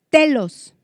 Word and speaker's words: telos: Esta palabra fin, donde dice hasta el fin, es la palabra telos, con acento en la E, de donde viene la exclamación de Jesús.